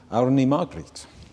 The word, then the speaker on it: Árný Margrét: And tonight, one of the gigs at the Life from Reykjavík festival is going to take place here, with four artists, including Árný Margrét, who I think, I'm getting a nod, I said the name correctly.